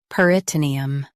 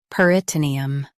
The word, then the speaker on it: peritoneum: peritoneum Now, read the syllables shown on the screen naturally. per i t nee um peritoneum Stress nee and keep um soft. per i t nee um peritoneum Stress nee and keep um soft.